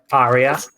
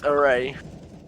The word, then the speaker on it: Arae: It's not Area, it's Arae.